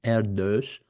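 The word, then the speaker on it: Erdős: And Erdos pronounced like this.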